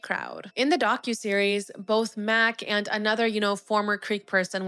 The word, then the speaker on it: Mac: Maurice referred to him as Mace, but no one ever called him that.